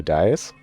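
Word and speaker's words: Dai: Do you know who dies? Die? Not like the verb die. It's spelled D-A-I.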